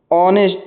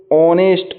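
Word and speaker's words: honest: ऑनेस्ट, इसमें H silent है, इसका जब अपन उच्चारण करेंगे, प्रोनाउंसिएशन करेंगे तो इसमें जो एच है वो साइलेंट हो जाएगा और इसका जो साउंड है वो ऑनेस्ट ओ का निकलेगा, हिंदी में ओ।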